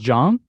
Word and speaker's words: Zhang: you mean you're saying to mandarin it's pronounced john yeah oh well i